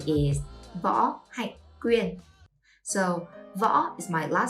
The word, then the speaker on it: Võ: Võ Hạnh Quyên. All the last name in Vietnam has only one syllable. For example, Nguyễn, Trần, or Võ all have one syllable.